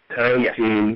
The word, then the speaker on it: Tarantin: Tarantine is spelled Tarantin, Tarantine Yes.